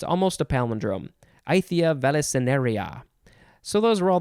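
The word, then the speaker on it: Aythya: name is uh how do you pronounce this is spelled a-y-t-h-y-a i-thea it's almost a palindrome ithia veliceneria so those were all the words we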